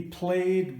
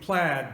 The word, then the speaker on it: plaid: anyways this is the played blade um played being the scots dialect version of plaid the original which or our our pronunciation of plaid being the american dialect version of played so anyways i'm going